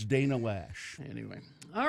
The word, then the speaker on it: Loesch: it's Dana Lash. Oh, it's spelt Loesch. Yeah, I Okay. know. It's She's a Loesch. Like Roach. It's spelled like Roach.